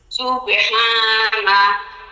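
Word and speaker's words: سبحان: আসতে চায় না চাপ দিয়া কোন মতে এটার উচ্চারণা বের করে দিলাম এইরকম হাবেহা বলেন সুবেহা না সুবহা সুবেহানা সুবহানা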